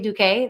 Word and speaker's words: Duque: So my name is Duque. That's how you pronounce my last name.